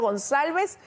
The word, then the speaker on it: Gonçalves: gonzálvez Ministro buenos días He pronunciado gonzálvez Como debería ser su apellido que es proveniente del portugués bienvenido muy buenos días Muchas gracias Lis correctamente pronunciado dicho eso ministro Pues